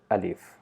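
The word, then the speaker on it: ألف: Points to be noted: alif, we don't need to put any emphasis while pronouncing it. It's just simple alif sound. Don't try to produce sound like a, alif. No, it's just simple alif.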